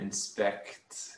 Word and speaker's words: inspect: when you say inspect you want to say the c at the end inspect inspect inspect right okay